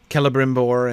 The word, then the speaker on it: Celebrimbor: Then he took those out for the hard Cs, which was probably not a good move, considering that like it leads lots of people to mispronounce the names of Celeborn and Celebrimbor and things like that. But anyway, a little clearer when they were Ks to start with.